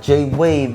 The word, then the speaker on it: Jai Wave: collabs you know got J wave did I say it right J wave you know what I'm saying like like a wave like Jay wave because you know we